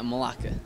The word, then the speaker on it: Melake: and then also your name is malaka yeah malaka malaka can you spell that m e l a k e okay